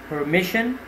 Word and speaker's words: permission: Next word is permission. So you have to stress on mish, as you can see in phonetic transcription, it's a noun.